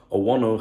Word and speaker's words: Owono: Jesus Owono, well, no doubt you should pronounce it as Jesus Owono, has renewed his contract with Alavés until 2029.